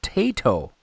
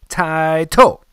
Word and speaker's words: Taito: You'll hear the manufacturer says Taito, so Taito is probably the correct pronunciation of that, and Taito is but I still call it Taito.